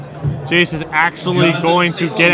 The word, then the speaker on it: Jace: Oh timely I believe some comments in the feed say that they believe it's pronounced Jace Tom willing to believe